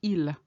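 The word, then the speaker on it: ils: so you would say ill notice I didn't pronounce the S I didn't say or El no it's El normally a final s is never pronounced the reason I pronounced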